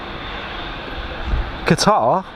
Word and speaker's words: Qatar: to the runway visitors park today with us qatar 787 there you go said it right